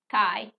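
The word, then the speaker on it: καί: I said that before, but that word is and. Okay? Kai is and.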